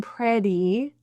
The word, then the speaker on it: pretty: And keep in mind too, the Y in pretty, E, is a full E sound. That's the IPA symbol for E. Many non-native English speakers will kind of neutralize it, and it'll sound a little more like pretty. So keep that E in there.